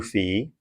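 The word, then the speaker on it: phi: And notice that if this is 2 FE then this angle say PFC is also 2 FE. If you're one of those people that pronounces it fi, that's okay, too. They're the same.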